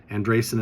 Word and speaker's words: Andreasen: Andresen is spelled Andreasen, but look up Psionic Contact, Carl Crusher on Patreon to get a copy of the book today.